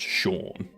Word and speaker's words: Sean: If you have someone called Sean going to Sweden, it's still pronounced Sean.